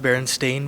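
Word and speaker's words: Berenstain: that came from cuz even in the show it's pronounced Baron stain bears but it's weird um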